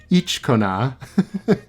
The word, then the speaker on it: Ichikona: Next is Ichikona. I know that's not what that looks like at all, but the story is very specific in saying that her name is pronounced Ichikona.